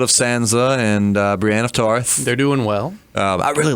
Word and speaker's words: Tarth: She's hanging out with Brienne of Tarth. Yeah. I know it's Tarth, not Tar.